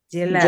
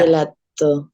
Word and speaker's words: gelato: Fíjense, la G con la E suena Y. Entonces, por eso esta palabra, ¿cómo suena? Todos la saben pronunciar, estoy seguro. Gelato. Gelato.